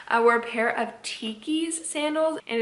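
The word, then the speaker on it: Tkees: go grab again i wear a pair of tikis sandals and it's spelled t-k-e-e-s which here i'll pop up a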